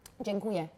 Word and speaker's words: Dziękuję: How do I say thank you? Dziękuję. Dziękuję. You were like dzień. Dziękuję. It's dzień. Dziękuję.